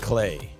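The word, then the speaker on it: Klei: hold on what's this thing okay uh it's cleet right it's key la l-a-k-l-e-i yeah uh twitter it's pronounced clay yes it's called the rottwood chat it's called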